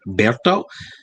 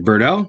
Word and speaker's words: Berto: of pre-calculus honors students my name is berto that's how it's pronounced uh many people just say birdo but i always have to say berto cause i'm afraid my father's gonna come walking down here and yell at me for pronouncing my name wrong anyway i'm your son